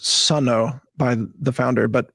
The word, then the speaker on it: Suno: me to Suno, which I understand is actually pronounced Suno by the the founder, but whatever, we all call it Suno.